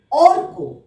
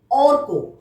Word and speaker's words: অর্ক: প্রথমে দেখো অ কয় রেফ, অর্ক। অ কয় রেফ, অর্ক। কয়ের মাথায় রেফ আছে, তাহলে তার আগে আমরা র উচ্চারণ করব।